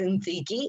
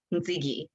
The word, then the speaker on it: Ntsiki: So Ntsiki is said like how you say Nikki, but with the TS. So Nikki, Ntsiki.